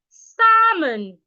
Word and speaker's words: salmon: Tom we also have salmon Salon not Salon salmon salmon not salmon the L is silent we have castle castle